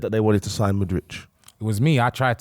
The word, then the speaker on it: Mudryk: His name is MYKHAILO MUDRYK. MUDRYK.